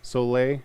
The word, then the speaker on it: Soleil: damn good I don't I never pronounced this right it's spelled s-o-l-e-i-l it was Marvel's European line of books so lay I think that feels right um but they did